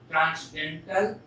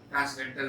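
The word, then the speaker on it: transcendental: Just like the number pi, इट is also ट्रांसडेंटल number. ध्यान दीजिए, N silent है.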